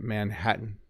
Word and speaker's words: Manhattan: The ending is like a mute sound. So yeah, it's like the word ends, right? Button. Button. Like as I'm saying it, Manhattan, mountain.